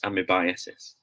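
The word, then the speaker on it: amoebiasis: the big reveal guys this word should be pronounced as bam i'm a biases guys this might sound like a surprise to you know but it should be really pronounced as amy biases okay we are thinking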